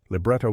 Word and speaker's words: libretto: Libretto is pronounced libretto, libretti is libretti, concerto is concerto, and concerti is concerti.